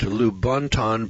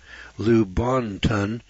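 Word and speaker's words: Lubaantun: 11 skull was unearthed by michael hedges at lubunton british honduras now this is spelled l-u-b-a-a-n-t-u-n lou bontan british honduras it is no secret that prehistoric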